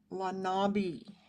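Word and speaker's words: Les Nabis: He was a post-impressionist and founding member of the avant-garde group Lanabi, is how I think it's pronounced. I went and looked up the French pronunciation so that I wouldn't butcher it too bad.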